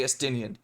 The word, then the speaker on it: Estinian: His name's actually Estinian. Keep saying his name wrong.